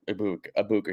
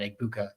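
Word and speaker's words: Egbuka: But um I mean that I I love that you have Tez to back up Ibuka here. I didn't realize you don't pronounce the G, by the way.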